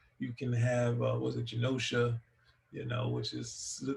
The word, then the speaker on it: Genosha: I think on our show, me and Mars was talking about Genosha, and he said Kenosha. I'm like, no, it's Genosha, not Kenosha. It's spelled the same, but yeah, you could do that, which is not necessarily my favorite thing.